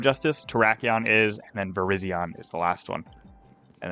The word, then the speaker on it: Virizion: Yep, Virizion. It's spelled very similar to Verizon, as you can see in the title of the stream.